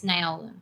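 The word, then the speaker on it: Naolin: In the audiobook, it's Naolan. Naolan.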